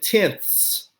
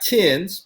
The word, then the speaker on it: tenths: And notice I said tenths. Not tens, but tenths.